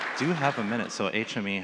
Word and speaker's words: HMIE: We pronounce it HME.